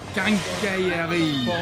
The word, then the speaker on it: quincaillerie: you know what the hardest word to pronounce in the whole French language is? What is it? This. Quincaillerie.